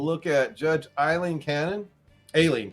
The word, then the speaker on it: Aileen: at judge Eileen Cannon alien Cannon I think is is really how you pronounce it a a-i-l-e-e-n is how ice got it oh it's not ailing like she's sick okay all right uh